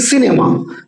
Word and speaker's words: সিনেমা: দন্ত স উচ্চারিত হয় একমাত্র বিদেশি শব্দ, অর্থাৎ ইংরেজি থেকে আগত বাংলা শব্দে। যেমন আমরা উচ্চারণ ধরো করছি সিনেমা, সিনেমা উচ্চারণ করার সময় জিভটা দেখো ঠিক দাঁতেই লাগছে।